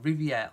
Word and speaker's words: Riviere: i'm sure that's how you say his name Riviere our IV ie our e as I said